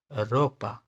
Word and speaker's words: ropa: रोहो, र, र, र, रोहो, Rousseau, Rousseau, Rousseau, ropa, ropa, r, r, r, r, ropa, r sound, r, alright, r.